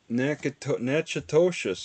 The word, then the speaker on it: Natchitoches: Natchitoches, that's all it's pronounced.